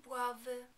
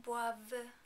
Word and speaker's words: boivent: In the il and elle plural form, we do not pronounce the final NT because there isn't a vowel after it. Ils boivent. Elles boivent.